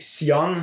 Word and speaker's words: Sion: Ben, c'est Sion, mais. Ouais, ça s'écrit on prononce S-I-O-N.